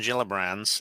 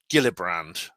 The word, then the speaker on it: Gillibrand: this urge to say Gillibrand. It's Gillibrand, soft G.